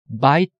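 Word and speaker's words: בית: 그거는 왜 그러냐면은 우리말과 다른 언어의 차이가 있기 때문에 그런데 발음상으로 들을 적에는 바이트 맨 뒤에 나오는 타우 발음이 들려야 돼요.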